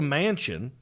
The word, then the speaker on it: Manchin: uh what hashtag joe manchin i love that name by the way mansion looks like he lives in a huge biltmore house like the last name i know it's spelled different but you hear the word